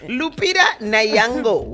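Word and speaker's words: Lupita Nyong'o: Lupita Nayango.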